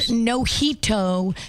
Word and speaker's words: Noito: It's spelled noito just like mojito.